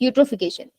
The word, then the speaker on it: eutrophication: यस, यूट्रोफिकेशन। यूट्रोफिकेशन, यू बोलना है आपने, ई को साइलेंट है।